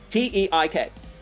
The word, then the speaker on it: Teik: T E I K. Pronounce it.